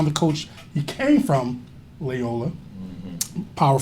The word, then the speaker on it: Loyola: Okay, Loyola.